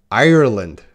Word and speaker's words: Ireland: So Grace is the 10 words with silent letters, no problem, but her problem was the country, Ireland. Ire. You need the ire, like fire, fire, ire, ire, Ireland.